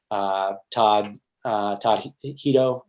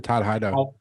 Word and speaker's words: Todd Hido: Todd Hito, am I pronouncing his Oh last yeah, name? Todd Hido.